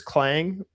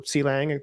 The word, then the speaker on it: clang: um Wazi SDK uh is basically like um a tool chain that sort of packages clang or cang depending on how you like to pronounce it.